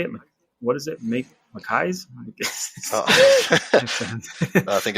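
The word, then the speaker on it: Mekies: Mackay's? I think it's Makia's.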